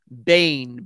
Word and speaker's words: Boehm: charlie project frederick joseph bain b-o-e-h-m why it's pronounced that way i don't know but that's the way i pronounce it um michelle says thank